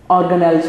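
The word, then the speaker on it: organelle: यस, इट इज ऑर्गेनेल level. The word is ऑर्गेनेल, ये ज़रा clear कीजिएगा, ये ऑर्गेनेली नहीं है, कोई और इसकी प्रोनाउंसिएशन नहीं है, जस्ट क्या है ऑर्गेनेल।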